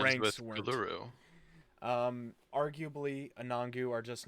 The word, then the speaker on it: Uluru: It's Uluru, not Uluru. Uluru. Appreciate that. Yeah, I think we're all on the same page here. Even though our rhymes ranks with weren't. Uluru.